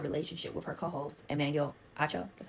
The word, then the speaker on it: Acho: Faraji also is saying that Joy had a relationship with her co-host, Emmanuel Acho, that's how you say his name, and that